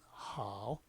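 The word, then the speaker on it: 好: 중국 발음에서는 하오, 하오. 우리가 외국어를 배울 때, 중국어를 배울 때 제일 중요한 게 상대가 좋다 소리는 할 줄 알아야 되잖아요.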